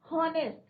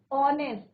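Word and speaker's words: honest: हॉनेस्ट, हॉनेस्ट is wrong. ऑनेस्ट, ओ का pronunciation हो रहा है। तो यहाँ पे हम क्या यूज करेंगे? आपका एन यूज करेंगे, क्योंकि बट यहाँ पे कंफ्यूज ना करें कि यहाँ पे जो है हमारा क्या है बच्चों? कॉन्सोनेंट क्या है हमारा? एच is your silent.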